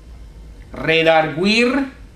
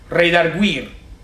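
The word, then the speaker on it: redargüir: Española ruir redir y tiene sobre la u el diaris que indica la pronunciación correcta en cuanto a la guu OK Que no es gu sino reir reir reduir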